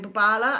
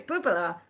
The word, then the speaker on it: Bubala: wrong at first and he kept saying Bubala, and I was like, no, it's Bubala.